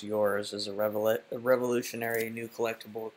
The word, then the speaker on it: URS: URS, pronounced yours, is a revolutionary new collectible created by a global team based in Korea, US, and Germany.